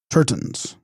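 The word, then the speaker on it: gter-ston: Those who discovered these spiritual treasures and propagated their teachings were called Tertons, from Tibetan Giterpsten, pronounced Terton, meaning revealer of treasure.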